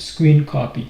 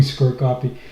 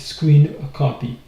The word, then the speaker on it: scrcpy: So you can see that's the version I have version 3.3 and it's pronounced screen copy. So I was wrong when I was going square copy. It's pronounced screen copy.